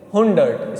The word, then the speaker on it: hundert: हुंडर्ट, spelling देख लो, हुंडर्ट, HUNDERT, ठीक है, हुंडर्ट।